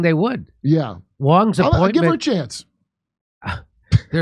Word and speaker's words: Wong: be inappropriate but uh Wong is about the name Wong rhyming with dong because that's the only